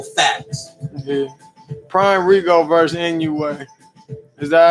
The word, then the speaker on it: Inoue: Prime Rigo versus Inoue. Is that how you say it? Yeah, Inoue.